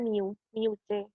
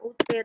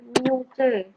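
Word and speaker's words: μC: Kemarin tuh kalian kalau membacanya UC kali ya. Itu membacanya mu C. Yang artinya itu kali 10 pangkat 6. Oke. Bentar, saya berikan contohnya. Kayak gini. Jadi, misalnya diketahui Q1 itu sama dengan 2. Oke, ini membacanya bukan UC, tapi mu C. U itu mu membacanya.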